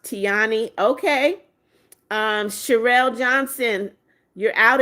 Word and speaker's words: Tiana: It's pronounced Tiani.